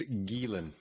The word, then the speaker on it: Geelen: Yep, it's Geelen. Geelen? Awesome. Yep. Perfect. All right. Yep. So we'll start now. Welcome to episode 17 of The Interesting People You Meet. We're glad to have our guest Geelen with us today.